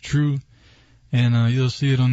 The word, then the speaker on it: 2Ru3: you can just search my name which is pronounced true and you'll see it